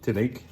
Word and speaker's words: Tillig: What I've done is I've bought a range of stuff from Tillig, that's how you pronounce it.